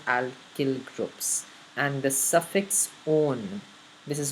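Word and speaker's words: -one: groups and the suffix own this is not one its own its own because when you see it will come in the name it will be pronounced as own right so there's actually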